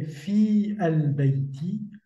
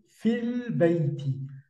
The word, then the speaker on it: في البيت: Je n'ai pas prononcé fi al-bayti, mais plutôt fil bayti. Donc, j'ai fait abstraction du alif dans l'article défini et j'ai prononcé seulement le lam avec soukoun, ce qui nous a donné à la prononciation fil bayti.